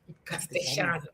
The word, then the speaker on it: castellano: Castano. See? Um, so yes, Shano. It's not even Castellano or whatever. Castano, it's cast because double L and Y in Spanish is automatically pronounced as sh, right?